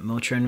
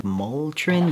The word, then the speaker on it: Motrin: Up until now, I thought that Motrin was actually written Moltrin, like M-O-L-trin. So that's 25 years of mispronunciation.